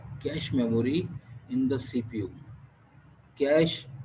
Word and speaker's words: cache: लोग इसको कैची भी पढ़ लेते हैं, कैशे भी पढ़ लेते हैं, लेकिन आपने क्या प्रोनाउंस करना है, कैश, CASH, कैश मेमोरी।